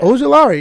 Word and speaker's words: Ojulari: Aziel, I don't know how to pronounce that name, but he's an edge. Ojulari? Yeah. Ojulari, yeah, that's right.